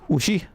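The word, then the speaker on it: うし: For example, is pronounced ooshi, which means cow.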